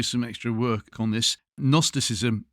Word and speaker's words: gnosticism: extra work on this gnosticism is with a silent G at the beginning it is not an N yes like gnome yes very important otherwise you